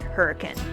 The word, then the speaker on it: Hurricane: Now this arch is found in the southwestern part of Utah near Hurricane, or how the locals say it, Hurricane.